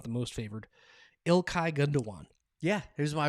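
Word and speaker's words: Gündoğan: so he he uh his name has an umlaut and then it's spelled like gun Dogan okay okay gundogan is how uh Americans would say it or if you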